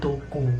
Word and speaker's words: Toco: atau si anjing toko tulisannya itu to c bacanya toko.